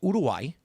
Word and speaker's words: Uruguay: If we did USA versus Udai, that's how you pronounce Uruguay by the way. Everyone says Uruguay Udway then um I think we'd get Or how about Warriors versus Magic?